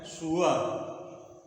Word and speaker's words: sure: तो सही उच्चारण इसका यही है, सुअर। आई एम नॉट श्योर my self, इसको पढ़ा जाएगा सुअर। इसका उच्चारण होता है जो फोनेटिक जानते हैं ऐसे, यस इंडिया वाला सुअर। आई एम नॉट श्योर my self.